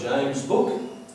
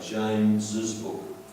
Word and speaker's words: James's: We do not say James' book, that is only 1 syllable and not what we actually say. We actually say James's book. But we actually say the 2 syllables, so we do say the 2 syllables in James. I'm just doing heavy revision here to make sure the point is driven home. So we actually say the 2 syllables James's, therefore we have to write the second S.